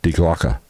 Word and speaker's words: Die Glocke: And we've all heard of the bell, the Nazi bell, which they called Die Glocke. That's how you pronounce that.